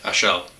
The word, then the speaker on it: Achel: That's pronounced right, Achel, Trappist.